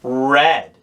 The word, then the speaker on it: read: mistake read turns into red it's spelt the same but it's pronounced just like the color red pause the video here